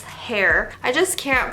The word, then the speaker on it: Khair: I know it's not Khair, it's not Khair, it's hair.